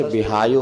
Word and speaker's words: विहायो: हाथी जो चलता है उसकी गति मानी जाती है प्रशस्त विहायो गति। उच्चारण समझ में आ रहा? वा में छोटी की मात्रा, हा में आ की मात्रा, या में ओ, विहायो गति।